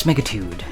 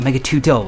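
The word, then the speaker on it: Megatudo: While we're on the subject of untransated Mecca games, there was also Megatude 2096. Megatude 2096. Yes, Megatude, not Megatudeo, like how it's spelled.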